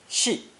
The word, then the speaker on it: 系: Now we have another similar-looking character, also pronounced fourth tone, 系, in today's lesson.